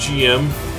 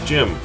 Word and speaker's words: GM: Not pronounced GM, gym. Now, like the American Jeep from World War II, its surname was GP Vehicle, General Purpose Vehicle. Well, the troops just started calling it Jeep. GP, Jeep. Well, the GM goes by the same thing. It's a general mobile suit. It's called GM. So they're pronounced GM.